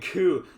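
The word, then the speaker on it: 九: Is not is not she, Shichi, and Q. It is Yon, Nana, and Ku, the simpler versions.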